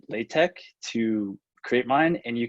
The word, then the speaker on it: LaTeX: so thanks ben for that yeah it's uh l-a-t-e-x uh it's pronounced latex can i say one thing on